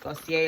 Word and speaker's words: Glossier: you order from glossier give us your glossier glossier that's how you pronounce it you get your pink bag with